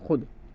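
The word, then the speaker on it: خود: को लिखा जाता है, इस वाव मादूला में वाव को तो लिखा जाता है लेकिन पढ़ा नहीं जाता। जैसे खुद, ख्वाब, अब देखो खुद है और ख्वाब, ख्वाब नहीं ख्वाब, इसका प्रोनाउंसिएशन जो है, तलफ़ुज़ क्या बनेगा हमारा, ख्वाब, ख्वाहिश वगैरह। खुद, खे वाव दाल लेता है ना, लेकिन इसको पढ़ा इस तरह से जाता है, खुद।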